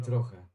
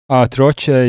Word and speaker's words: trochę: Troche is the English pronunciation. Yeah, okay. But why does the guy swallow the C? Why does he swallow the C? Wpadliśmy na siebie trochę. Why can't I hear the C in his voice?